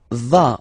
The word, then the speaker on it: vas: Tu vas. Final S doesn't exist.